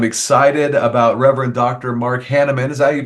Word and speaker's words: Hannemann: it because I'm excited about Reverend Dr Mark hannaman is that you pronounce that Mark that's right yeah and so